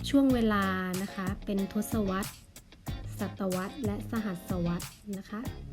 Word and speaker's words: ทศวรรษ: ของ ทศวรรษ นะ คะ อ่ะ ทศวรรษ อ่าน ว่า ทศวรรษ นะ คะ หมาย ถึง ช่วง เวลา 10 ปี